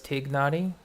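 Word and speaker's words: Tighnari: You immediately started pronouncing it as Tignari because Spanish is your first language.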